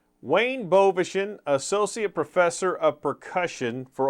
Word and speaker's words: Bovenschen: Bovenschen.